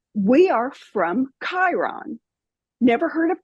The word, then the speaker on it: Chiron: But I got words that said, "We are from Chiron." Never heard of Chiron in my life, but I heard it with my inner hearing, I guess, with that hard ch that that K sound.